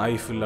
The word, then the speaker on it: Eiffel: பிரெஞ்சுல போட்டு பாத்தீங்கன்னா ஈஃபில் அப்படின்னு சொல்றாங்க, இங்கிலீஷ்ல ப்ரொனவுன்ஸ் பண்ணி பாத்தீங்க அப்படின்னா ஐஃபில் அப்படின்னு சொல்றாங்க.